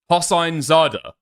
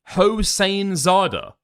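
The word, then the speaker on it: Hosseinzadeh: The best that I could come up with is Hain Zada. If it's German, if it's like Jewish German, right? Hin zada. But you sound like a when you say that stuff. Hosin zada. Yeah. Okay. Okay. So that is how you pronounce it then. B. Mark fair use ruling 12 times. 12 times. Wait. Hosain zada. What? It's an Iranian name.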